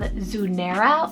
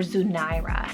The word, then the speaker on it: Zunaira: Then we have Zunaira or Zunaira, spelled Z-U-N-A-I-R-A.